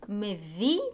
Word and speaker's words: מביא: מביא, it's aleph is silent here.